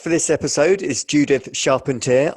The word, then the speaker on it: Charpentier: episode is Judith sharpener I've probably pronounced that badly I'll get Judith to explain it exactly in a moment um Judith help me out here tell tell me how to pronounce your name properly it's sharpan it means Carpenter in